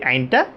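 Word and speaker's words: ع: হি হু হা হি হু এরপর আসি আমরা আইন আইন আইন আইন আমরা যখন বলবো তখন হলকের মাঝখান থেকে একটু চিপে বলব পড়াটা একটু চিপে যদি বলি আমাদের আইনটা সঠিকভাবে উচ্চারণ হবে কিভাবে বলব আইন আইন আইন আইন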